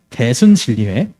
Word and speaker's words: 대순진리회: 대, 순, 질, 리, 회라고 읽어요. 대순진리회.